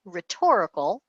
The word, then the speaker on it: rhetorical: It's so long and it's got this silent H in it, right? It's pronounced rhetorical.